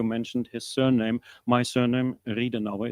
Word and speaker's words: Riedenauer: My surname, Riedenauer, is spelled like read an hour, and I really do.